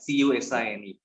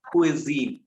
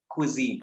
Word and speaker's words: cuisine: is spelled, like Cusine. But cuisine is actually, if I'm not mistaken, it's a French word, and they say cuisine, cuisine.